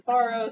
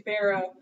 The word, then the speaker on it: farro: up um it'll say some definitions will say they pronounce in faro some say pharaoh so of course last